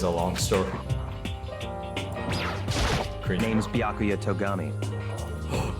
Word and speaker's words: Byakuya: It's Bya or Baya? No, Bya. It's right. Byakuya. Byakuya. Yeah, right?